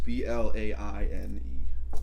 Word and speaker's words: Blaine: How do you say his name? Is it Blaine? Yes, B-L-A-I-N-E. Blaine.